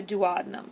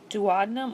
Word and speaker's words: duodenum: So pyloric sphincter relaxes and allows chyme to enter the duodenum. So pyloric sphincter relaxes and allows that liquidy food, acidic liquidy food at that, to enter the duodenum or duodenum, pronounced either way.